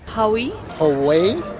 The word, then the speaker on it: Huawei: people around the globe have learned how to pronounce this curiously spelled Chinese brand in recent weeks Howey away but unfortunately many got to know about it